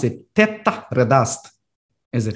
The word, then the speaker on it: Þetta reddast: So how do you pronounce it? Tetta redast, is it? Tetta redast.